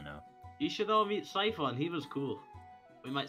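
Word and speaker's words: Sephek: Just real quick, I did mispronounce his name. According to the pronunciation guide, it's Siphon. Siphon.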